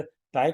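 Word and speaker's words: ताहि: अब इसी को मैं बड़ी पढ़ूं तो जैसे ताई को ताही पढ़ूं, ताही मारी मारुत सुत बीरा, तो देखिए ना कैसा बड़ा अजीब सा लग रहा है।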